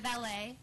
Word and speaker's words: Valet: I'm Valet, pronounced like valet parking.